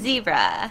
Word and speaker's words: zebra: and the Wannabe 발음으로는 zoo, zoo, and zebra, zebra, z 이게 쓰셔야 돼요.